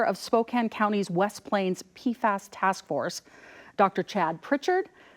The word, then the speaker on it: PFAS: So PFAS stands for poly and perfluoroalkyl substances. We tend to have a long A so we can differentiate it from one of the analytes, PFOS, that we talk about quite often.